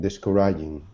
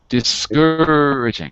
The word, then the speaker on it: discouraging: Mother must have been doubtful from the first, but she said nothing discouraging. Discouraging. Second syllable.